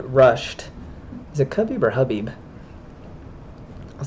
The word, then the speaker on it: Khabib: So it's Habib, or Habib, but Habib, not Khabib.